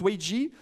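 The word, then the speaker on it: 危机: idéogrammes qui forment le mot crise qui se prononce wei ji les deux idéogrammes le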